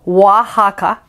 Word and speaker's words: Oaxaca: from oaxaca oh boy all these o words that don't sound like oh wahaka that's a state in mexico ouija we uh that